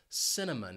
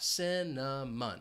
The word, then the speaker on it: cinnamon: spice a delicious spice this spice has three syllables and the stress is on that first syllable cinnamon notice that c is going to have an S sound and it's followed by the schwat cinnamon cinnamon I it's